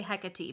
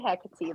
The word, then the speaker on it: Hecate: you say her name i always say hecka t but that's not right is it it's a kate but you can say hecate that's fine just i just think that if if any time we're trying to pronounce words yeah from mythology they don't have h's so just ignore the h okay i mean i